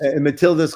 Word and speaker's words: Matilde: Phenomena Matilde's Quest, or is it Matilda's Quest? Matilda's Quest. And Matilda, it's spelled the Portuguese way because my great co-creator, Andre, that is the name of his daughter.